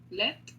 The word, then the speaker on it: lait: Lait? Le lait. Attention, le T, on ne prononce pas.